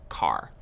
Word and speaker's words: char: covered integers what's next chars so chars are used for variables that will store single characters chars short for character and sometimes you might hear people pronounce it as car so characters always take